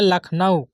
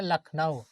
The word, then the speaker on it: लखनऊ: लिए ऊपर मिटाना होगा जैसे हम लिखते हैं लखनऊ जैसे लिखते हैं लखनऊ इसको सवाल को करा